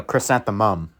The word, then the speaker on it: chrysanthemum: No, chrysanthemum. It's mum at the end, not num.